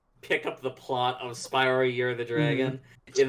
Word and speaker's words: Spyro: I'm assuming you pronounce the name like the Greek food. So Spyro.